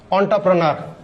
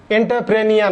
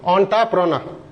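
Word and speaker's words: entrepreneur: অন্টারপ্রেনার, এন্টারপ্রেনিয়র না কিন্তু, অন্টারপ্রেনার।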